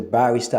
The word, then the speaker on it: barrister: He's a barrister at law. You get to hear certain people pronounce that word as barista. But it's barrister. The stress is on the bar.